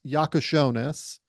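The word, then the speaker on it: Jakučionis: really good point on kasparis yakos shones is how you say his name uh he is a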